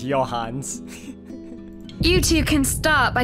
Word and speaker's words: Johanns: to help you out i've been pronouncing it your harness it's your hands you two can start